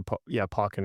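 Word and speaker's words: Pokkén: but I just remember something like Pokken, or Pokken is the correct pronunciation.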